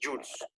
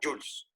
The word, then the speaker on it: joule: Este J mayúscula es joules, ¿ya? Entonces, newton por metro, si es que calculamos trabajo, repito, es joules. Profe, pero ahí dice joule. Claro, se escribe joule, pero se pronuncia joules.